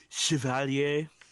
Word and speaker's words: chevalier: And it's actually, excuse me, Nick, but it's pronounced Chevalier.